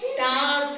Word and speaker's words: talk: Talk. L silent. L is silent.